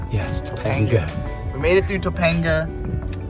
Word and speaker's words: Topanga: not gonna correct you is it topaga Topanga yes Topanga we made it through Topanga uh to Mulholland